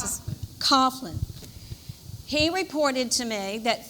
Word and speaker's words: Coughlin: How do you pronounce this? Coughlin.